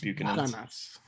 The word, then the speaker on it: Buchanan's: That's actually pronounced Buchanan's. Don't hey, Kyle. fuck with me and my Bucanas.